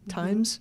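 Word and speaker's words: Thymes: From uh is it time times?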